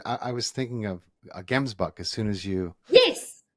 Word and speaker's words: Gemsbok: so Gemsbok, so actually you pronounce it Oh, is Gemsbok. it hemsbuck?